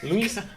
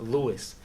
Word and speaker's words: Luis: know, kind of like my name, Luis. But Luis, but when they go when they talk to the commentator, they be like, my name is mentioned is pronounced Lewis.